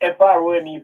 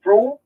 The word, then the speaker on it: Frome: Kingstonians pronounce it Frome, Frome. But the Westmorelites pronounce it correctly. It's Frome, and that's named after a place in England near Wiltshire, in southern England there.